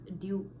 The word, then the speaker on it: due: you say it as due. So you have long vowel U sound. But if you are using American pronunciation, you pronounce this as do.